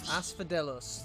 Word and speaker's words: Asphodelos: How do you pronounce it again? Asphodelos. Asphodelos, the first circle.